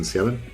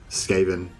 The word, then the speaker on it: Skaven: else um and some scavenge but um but yeah i wanted i wanted to take extra um skaven not scaven um yeah i think so yeah i think it is pronounced skaven not scaven but um i don't